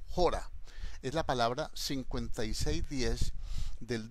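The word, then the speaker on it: ὥρα: Una hora es la palabra, es una palabra del griego, un vocablo que se pronuncia jora, con J, jora, tilde en la O, jora.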